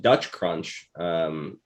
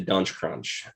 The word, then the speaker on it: Dutch crunch: was with stopped and tried to get some dutch crunch chips or whatever those are and someone mispronounced it to dunge crunch um which is how this how this reference